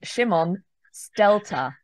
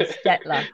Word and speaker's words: Szymon Stelter: to pronounce it is I'm joined by my good friend Shimon stelter I'd been saying sketler so I've got that wrong already but um you're